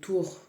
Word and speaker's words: Tür: La commandante Tour, ça s'écrit Tur, mais ça se prononce Tour.